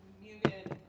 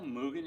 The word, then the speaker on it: Mugen: Chappie asked, there's a JDM Mugen, I always say it wrong.